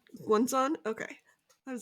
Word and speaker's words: Guanzon: The Hurricane Wars by Thea Guanzon? How do you say her last? Guanzon. Guanzon?